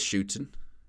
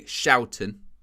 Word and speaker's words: Schouten: Here is Shooten. Dumfries. That's a good pass, Shooten. He's in the box. Ball across goal. Excuse me, Schouten. Got to work on the pronunciation, Owen. Schouten.